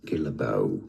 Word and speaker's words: Guillebeau: His surname is pronounced in the US as Guillebeau. Now, if it was French in France, it would be said as Guillebeau.